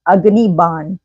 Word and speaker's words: अग्निबाण: सब कह रहे हैं, बट दिस इज अग्निबाण, ठीक है ना, वो एक हिंदी प्रोनाउंसिएशन होता है जिसको इस्तेमाल किया जाता है।